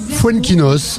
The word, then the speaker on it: Foenkinos: accompagné de Jacques F c'est comme ça qu'on prononce votre nom fuenkinos voinos voilà tout simpement comme l'écrivain vous connaissez